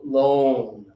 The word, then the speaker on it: loan: A But this one here, the money that you take from the bank to give back later, this is o loan.